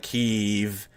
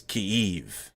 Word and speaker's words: Kyiv: it's not kiev and it's not kiev it's kiev like you gotta it's like one it's a one syllable word that you gotta make two syllables out of that's the proper way to say it and i've been